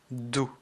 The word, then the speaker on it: du: que la prononciation diffère le U en allemand se prononce ou écoutez bien je vais